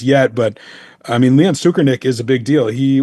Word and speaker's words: Tsoukernik: All right, let's talk a real quick story that happened last week, and that was Leon Tsoukernik. I actually pronounced that right.